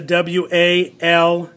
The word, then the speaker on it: walk: Because this is an ah sound. Even though the L is there, it is an ah sound. So we'll put this one as a W-A-L-K.